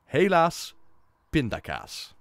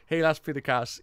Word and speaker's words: helaas pindakaas: Helaas pindakaas, it rhymes.